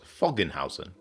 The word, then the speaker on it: Föggenhausen: to be playing I'm going to pronounce this as fogan Housen and uh with a